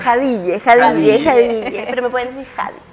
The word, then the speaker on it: Jadille: ¿Cómo se pronuncia? Jadille.